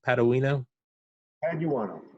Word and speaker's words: Paduano: Paduano. Just like it's spelled.